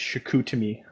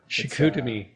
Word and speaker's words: Chicoutimi: So now, how do you pronounce that? You put on here it's Chicoutimi? Yeah, it's Chicoutimi. Chicoutimi.